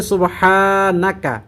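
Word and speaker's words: سبحانك: এই দোয়াটি রব্বানালাতাহা লা সুবহানাকা এখানে সুবহানাকা মানে হা এর মধ্যে টান হবে সুবহানা এরকম টান হবে না এ ছোট্ট ভুলটি খেয়াল রেখে পড়বেন আবারো বলছি রব্বানালা সুবহানাকা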